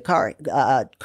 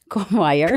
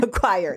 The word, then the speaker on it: choir: expenditure, And I know I'm preaching to the car. How do you say it? And a language barrier? Choir. Choir.